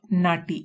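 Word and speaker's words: knotty: Next है नाटी। इसकी pronunciation नाटी है।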